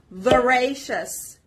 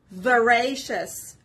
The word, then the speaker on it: voracious: each word let's go veracious veracious repeat after me veracious the stress is on the second syllable which is on or